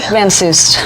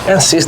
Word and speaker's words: Van Soest: Van Soest. Van Soest. The T is silent. Van Soest. Yeah. So it's like it's not Soest, but Soest. Soest. Like Dr. Seuss, but with a T on the end.